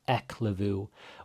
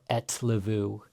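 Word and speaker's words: ellefu: So really try to get that etlevu sound, not eklevu or etlevu.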